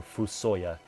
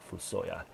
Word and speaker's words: FuSoYa: the form of or fusoya is I believe how you pronounce it fusoya but I just call them full soil um as you